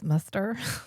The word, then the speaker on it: Muster: Yeah, he's like really into short older men whose name is Muster. Rhymes with Fester.